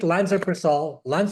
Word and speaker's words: lansoprazole: The only thing is that I take lansoprazole. Am I pronouncing it correctly? Lansoprazole? Yeah, that's good. Good enough.